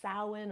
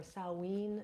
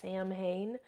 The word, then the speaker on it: Samhain: are newer to the craft it it is pronounced sin or saen sometimes but not Sam Hayne um sin translates roughly to Summer's end or